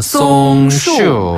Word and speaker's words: 松树: 소나무 송자를 써 가지고 송 그다음에 나무 숫자 써서 슈라고 해요. 아, 송슈.